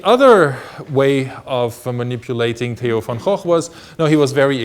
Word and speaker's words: Van Gogh: Van Gogh is actually the painter that you may pronounce Van Gogh or something like that, but it's Van Gogh.